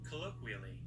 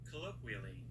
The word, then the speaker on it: colloquially: No, not colonoscopy. Colloqually. Sorry. Colloquially. Colloqually. I think I still pronounced that wrong, but I don't care that much.